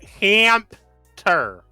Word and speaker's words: Hamter: It's pronounced Hamter. Say it with me, Biscuit. Ham. Burger. Ham. Stand. Ham. Per. Ham. You're close. Hamter. Hamter. You gotta add a ter.